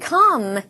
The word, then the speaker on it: calm: 요 C-A-L-M 이라고 적혀있는 철자를 발음을 하면 calm이라고 읽습니다. 얘는요, 고요한, 평화로운 요 정도로 우리가 의역을 할 수가 있습니다. 발음은 calm이라고 한다고요. calm 이렇게 하지 마세요. calm이라고 하면 됩니다.